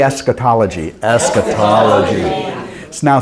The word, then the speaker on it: eschatology: Say eschatology. Eschatology. So now say this one. This is more syllables.